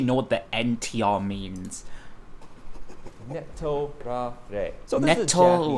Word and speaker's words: Netorare: Netorare. So this is a Japanese word. Let's break it down phonetically. So ne, referring to sleep, as in sleeping with someone in an affair.